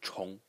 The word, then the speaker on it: 虫: And it's pronounced 虫.